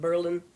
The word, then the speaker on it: Berlin: They were from a little place called Berlin Heights, only they pronounced it Berlin because of the war.